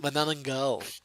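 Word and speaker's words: manananggal: you know you got your manal yeah it's pronounced manal manang galal it's manal it's manal manal okay yeah g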